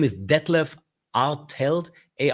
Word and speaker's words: Artelt: My name is Detlev Artel. A R T L T. Not easy to pronounce as well as Detlev.